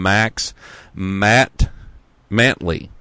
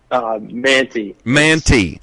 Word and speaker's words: Mantey: But I've got Gus and Max Mantley. How do you say that? You said Stella always mispronounces it. So Manti. I knew that, but then the L creeped in there.